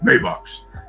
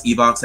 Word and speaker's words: Evox: Maybox. He couldn't pronounce Evox at first, so he used to say Maybox.